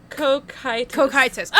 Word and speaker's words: Cocytus: It's pronounced like this. Cocytus.